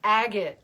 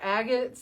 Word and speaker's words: agate: Carolyn's telling me it's pronounced agate, right? Because they're agates, the rock, the little mineral, whatever it is. It's a mineral, yep. Mm-hmm. Anyway, because earlier I said agate, like, I don't know.